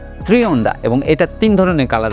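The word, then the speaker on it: Trionda: থ্রিওন্ডা যেটা একটা স্প্যানিশ শব্দ এবং এইটার আসল প্রোনাউন্সিয়েশন থ্রিওন্ডা এবং এটার তিন ধরনের কালার রয়েছে ব্লু স্টারস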